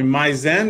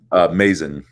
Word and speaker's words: Mazen: Mizen, is that correct? Mazen.